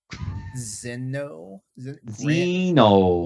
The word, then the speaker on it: Xeno: Xenoverse 2 for PS4, It's Xeno. Say that now. Zeno.